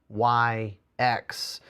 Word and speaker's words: Sionyx: It's spelled weird. It's Sionyx.